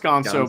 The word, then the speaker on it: Ganso: It's pronounced gonzo, but it's not the gonzo bomb because like what's his name?